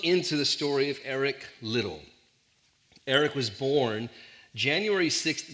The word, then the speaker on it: Liddell: named Eric little his we would pronounce his name Liddell but Scots in Scotland they pronounce it little so Eric little was uh an an